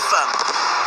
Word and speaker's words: femme: Femme, ça s'écrit avec un E et ça se prononce avec un A.